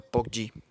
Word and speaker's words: PUBG: Hoy vamos a jugar al PUBG, el PUG móvil, como lo conocen algunos, pero bueno, yo les enseño que se pronuncia PUBG.